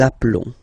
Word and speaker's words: appelons: Okay, so here for nous and vous, so we've got only one L, like here in the infinitive form. So that's the reason why I've been pronouncing appelons.